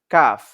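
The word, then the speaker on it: ق: মাখরাজ যে কফ আছে কফ হচ্ছে মোটা করে পড়বো আর কাফ হচ্ছে শক্ত করে পড়বো তারপরে হচ্ছে ছয় নং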